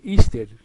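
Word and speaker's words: Easter: o el nombre de ister que ese nombre igl de la Pascua de resurrección y que se pronuncia ister se remonta a la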